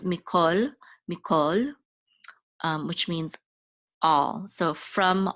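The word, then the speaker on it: מִכָּל: we're going to pronounce, even though this is a kamatz, it's going to be pronounced the ancient way, which is as a o. So this is mikol, which means all.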